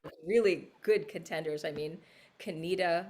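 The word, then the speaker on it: Conetoe: good contenders i mean kenita like you know which is spelt like cone toe but i mean there's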